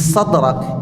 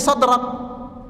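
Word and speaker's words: صدرك: Tiba-tiba di ujung ketemu huruf hames. Sadrak. Banyak yang terhanyut dengan ketebalan tiga huruf pertama berlanjut di huruf terakhir. Jadi shadraq.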